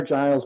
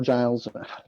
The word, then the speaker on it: Grylls: I definitely want a Bear Grylls or Giles. I should really look up how it's pronounced. It's Grills. It's Grills.